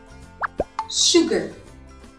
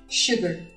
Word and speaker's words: sugar: Tiếp theo, từ sugar, đường. Đường cũng như vậy, được viết với một chữ S nhưng lại đọc như chữ SH. Chúng ta cùng đọc lại, sugar.